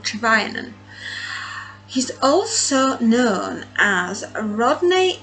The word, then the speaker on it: Trevanian: I always get his name wrong. Trevanian.